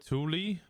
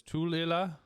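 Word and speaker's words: Tooele: Out-of-staters call it Thule, but it's Tulila.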